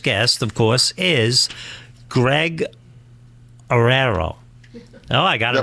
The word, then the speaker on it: Oreiro: And our first guest, of course, is Greg Aerero. Oh, I got it right. It's a tough name to pronounce.